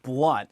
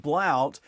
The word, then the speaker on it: Blount: just hard for everybody my last name was actually pronounced blunt as crazy as it sounds because when you see it spelled it looks like it's spelled blount but it's blunt so a lot of